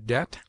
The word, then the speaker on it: debt: obtains in other languages it is mute in debt debter subtle doubt lamb limb Dum thumb climb